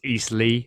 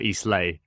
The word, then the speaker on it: Eastleigh: It's Eastleigh, not Eastleigh. Eastleigh.